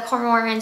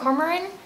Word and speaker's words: Cormoran: book series is the core Mormon strike or how do you say his name they said it different in the show Cormac cormoran cormoran strike series by JK